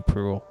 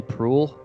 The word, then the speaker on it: Proulx: Is that how you pronounce that name, Annie Proulx? Well, it's Annie. It's like Prue. I don't know. Nobody can say it right, Wait, but also.